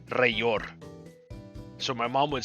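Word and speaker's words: Rellor: In Spanish, two L's is pronounced as the Y. So, like, our word for flame is llama. It's L-L-A-M-A. So this would be Rayor.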